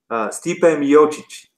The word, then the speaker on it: Stipe Miocic: How do you pronounce it? Stipe Miocic.